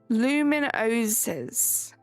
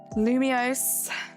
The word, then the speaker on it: Lumiose: Lumioses. That's not right because I have heard you say it before. Luminosis. That's not how it's pronounced. Unless I'm just reading that really wrong. It's like Lumios. Lumios.